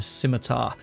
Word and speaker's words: Scimitar: going to be the scimitar now thank you for the pronunciation it is a silent c and yet it was